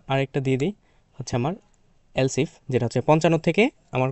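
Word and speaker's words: elif: এলসফ মানে হচ্ছে এস এইযে এলসফ মানে হচ্ছে যদি ওকে এটা হচ্ছে অথবা যদি মানে হচ্ছে মানে অনেকে এলে বলে তোকে এটা হচ্ছে মূলত উচ্চারণ হচ্ছে এলসফ যেটা হচ্ছে এলস মানে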